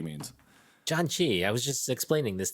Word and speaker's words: janchi: you tell everybody what john chi means john chi i was just explaining this to somebody else recently um it is not spelled like the name john and it is j-a-n-c-h-i